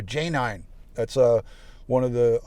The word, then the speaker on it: Janine: spell it like that she spells it j a n i n e and we call her j nine that's uh one of